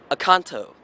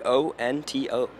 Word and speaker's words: Oconto: All right, Acanto.